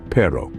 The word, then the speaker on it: perro: where things get interesting the r in Spanish is rolled giving it a unique